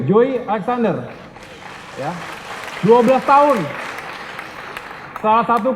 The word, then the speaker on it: Joey Alexander: bangga kita punya Joy Apa bacanya Joy Ya Joey Alexander ya 12 tahun salah